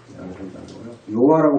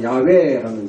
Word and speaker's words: 야훼: 사실 야훼입니다. 야훼. 여호와라고 발음하면 이건 잘못됐다고 지금 우리 학교에 다 판정이 났는데 아직도 저걸 잘하고 있는 거예요. 야훼라는 이 단어는 사실은 대제사장만이 1년에 한 번 부를 수 있습니다.